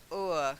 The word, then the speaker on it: o'er: It's like that one, o'er. Can you remember o'er instead of over?